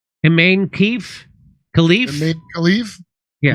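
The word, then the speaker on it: Imane Khelif: Iman Khalif? Iman Khalif? Yeah. Imani Khalif.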